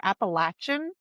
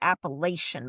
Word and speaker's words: Appalachian: it's not um I can't even say it wrong now cuz I know how to say it. The Appalachin Oh, those mountain the Appalachin Mountains. I think that's even how you maybe saying it wrong, but now from where I'm from up in Pennsylvania, those are the mountains. We would always say the Appalachian Mountains up there, but if you get